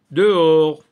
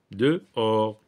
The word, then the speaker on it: dehors: dans certains mots le H se trouve à l'intérieur du mot euh euh mais c'est un h muet donc j'entoure dehors dehors là c'est le la même chose c'est pour lire les deux voyelles séparément dehors dehors donc ici c'est un